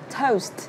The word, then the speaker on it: toast: Toast. Nó là âm O và âm U, mình sẽ là Oast.